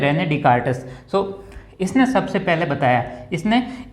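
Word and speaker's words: René Descartes: ठीक है, इसको पढ़ेंगे डिकार्टिस, ये ऐसे वो साइलेंट रहेगा, ये भी एक आर्ट होता है, ये जो आप धीरे धीरे प्रैक्टिस में आएगा। ठीक है, इसको बोलते हैं रेने डिकार्टस।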